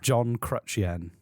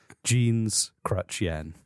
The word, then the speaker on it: Jean Chrétien: name again jean chen i'm thinking of crutch and then the currency yen that's all remember sure john crutchien not quite there we go but a lot better than how it started visually i've got to visualize it john john jeans crutch crutch the currency yen yen jeans crutch yen there we go so